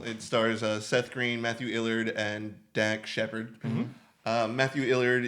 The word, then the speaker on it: Lillard: The C is silent. Lillard, you are correct. It is L-I. I always thought it was I-L. Matthew Lillard.